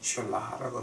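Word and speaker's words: Selah: 하나님의 능력이 이제 그러면서 샬라라고 나옵니다. 근데 샬라 그 영어로는 실라라고 읽어요. 근데 히브리 말로는 샬라라고 읽는데 그 샬라라고 하는 말이 뭐냐게 되면은 너희는 입 닥치고 앉아서 다음 하나님 명령 내릴 때까지 기다려라.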